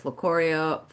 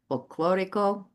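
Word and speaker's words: folclórico: We have their folclorio. I want to pronounce that correctly. Folclorico. Did I do that correctly?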